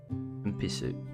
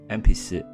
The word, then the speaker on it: 鉛筆: 鉛筆鉛筆鉛筆鉛筆 It's almost as if you're saying N-pisa, so Empisu. Empisu.